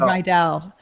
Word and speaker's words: Rydell: I forgot to tell you, you pronounced my name correctly the first time, and I noticed that most. When I said Rydell, but also there's a German pronunciation as well. That it is German, and that's actually how it's pronounced, Rydell. But I thought you got it right. All right, well, good. Like Rydell High in Greece.